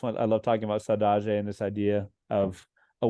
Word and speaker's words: saudade: But it's saudade, Saudade.